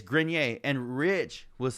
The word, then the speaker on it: Grenier: you spell it it's just like french or something right grenier it's just like or voir you know type of so it's grenier and rich was saying